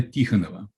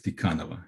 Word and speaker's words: Tikhonova: One of those students was 16 years old Nina Tikhonova, sometimes pronounced as Tikhanova in English manner, who in her memoirs described her shock, her utter shock.